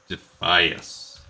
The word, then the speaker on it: Defias: looters be careful so the voice over addon it agrees that we should pronounce it defias now that doesn't really